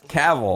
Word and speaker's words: Cavill: It's Cavill.